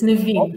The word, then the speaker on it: Naveen: Did I pronounce that right? Naveen? Yes, you did. It's Naveen.